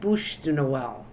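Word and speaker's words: bûche de Noël: said it wrong I'm absolutely wrong it's called Bud Noel that's what it's called a bud noell and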